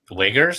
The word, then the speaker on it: Uyghurs: Muslim minority called the Uyghurs, spelled Uyghur. How the hell do you get Uyghurs out of that? Uyghurs? That's how to say it.